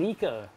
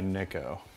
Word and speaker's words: Nico: I can see mica Americans like to correct me to tell me that and I say my name is Nick oh and they go oh you mean Nico from now on I'll say Nick oh all right this guy